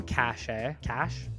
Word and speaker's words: cache: Dream Cache. Dream Cache? I don't know. How do you pronounce that? I think it's cash, Is right?